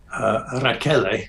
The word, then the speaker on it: Rachele: Is it Rochelle? Is that the way you pronounce it? Rachele.